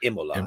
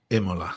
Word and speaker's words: Imola: Imola. How do you say that? Imola.